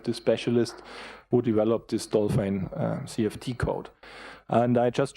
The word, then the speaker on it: DOLFYN: the program called dolphin so you pronounce it in netherlands dolphin anyway so this is